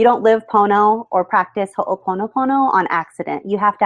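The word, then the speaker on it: ho'oponopono: Ho’o pono pono. Athena: You said it perfect and thing with the Hawaiian language you guys is you pronounce every vowel. So it's Hoo pono pono and little things that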